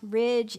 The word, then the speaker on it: ridge: that could be helpful how about Ridge edge badge write that pattern of D GE we don't hear the D but there it is this is also true